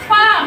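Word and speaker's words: palm: ইংরেজিটা ম্যাডাম বলেন পি এল এম এর উচ্চারণ হবে না পাম এটার নাম কি পাম পাম বাংলাতে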